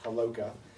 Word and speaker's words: Haloka: Well, for all of you that are looking at my last name and don't know how to pronounce it, it's pronounced Haloka.